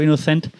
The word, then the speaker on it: Inocente: Guto Inocente, I think they don't pronounce the E, right? From Brazil. Guto Inocente.